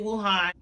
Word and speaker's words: Wuhan: in Wuhan China okay I thank you pronounce it will Han it pretty much they